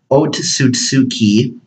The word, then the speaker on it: Otsutsuki: it's spelled with two O's and but it's pronounced o to suit tsuki is an alien from another world and the